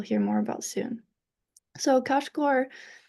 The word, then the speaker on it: Kashgar: And in today in China, it's still pronounced Kashgar.